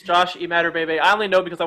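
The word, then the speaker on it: Imatorbhebhe: how this dude jumped so high but josh emma torba bay i don't know if i said that josh eat mad or baby i butchered that yeah it's josh you mad or baby i only know because i watch bengal on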